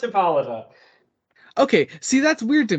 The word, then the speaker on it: Hippolyta: great hour sprung forth uh the daughter of hippolyta hippolyte jacob hippo it is pronounced hippolyta okay see that's weird to me i don't